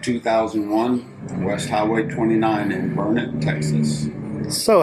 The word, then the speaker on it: Burnet: I know it looks like Burnet, but it's Burnet, darn it. That's how it's pronounced.